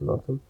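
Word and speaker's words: Loughton: It's pronounced Lawton in Essex.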